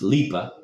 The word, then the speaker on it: Lipa: This is the transition to the main character of the story, the girl Lipa, pronounced Lipa.